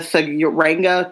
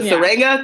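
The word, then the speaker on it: Tsuranga: discuss episode five the Sanga conundrum Sanga to agree with I'm assuming the tea is silent so am I so the Singa conundrum see you then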